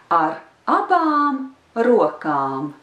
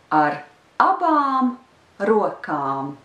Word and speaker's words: ar abām rokām: So the last three words of the sentence are ar abām rokām, ar abām rokām. The first word is not stressed, and then the stress is on the first syllable of the words that follow.